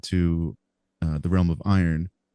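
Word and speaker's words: Eyrn: he is transported to uh the realm of iron spelled e y RN but pronounced like metal you know uh as he's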